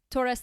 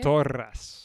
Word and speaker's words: Torres: So you have Torres del Paine. I'm working on my pronunciation here. Torres. Okay, well. Can you roll your R's? It's not as well like Torres.